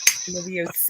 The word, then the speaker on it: Leviosa: Leviosa. Wingardium Leviosa. You're supposed Swish to pronounce and the flick. O. The O is what you hold on. Leviosa. Leviosa. Leviosa. Not Leviosa. Leviosa.